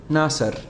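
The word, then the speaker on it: نَسْر: over the sin, we now know how to pronounce the word, nasr.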